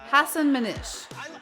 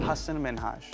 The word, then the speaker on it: Hassan Minhaj: pronunciation and then quipping if you can pronounce ansel elgort you can pronounce hassan minhaj after repeating it a couple of times mahaj then asked degeneres to try again her response hassan manish the third time was